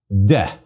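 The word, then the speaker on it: δέ: Delta, epsilon. Please give it a try. De. Again, de. The epsilon is short.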